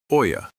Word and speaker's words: olla: It is called an olla, pronounced oya.